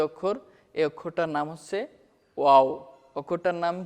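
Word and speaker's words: واو: এখানে দেখতে পাচ্ছি আমরা যে র অক্ষরের উপরের মাথাটা পেঁচানো, সেটাই হচ্ছে ওয়াও। ওয়াওর একটা মাখরাজ আছে, সেটা হচ্ছে ওয়াও দুই ঠোঁটের মাঝের ফাঁক হতে আদায় হবে।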